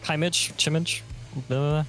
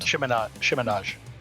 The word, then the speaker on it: chiminage: Yeah, Chimage. I've never had to pronounce it out loud. It's always in my head. Chiminage. Chiminage. Yep, it's French.